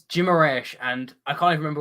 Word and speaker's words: Guimarães: I mean, it's Guimarães, and I can't even remember where I heard that, but I'm fairly confident that is how you would pronounce it.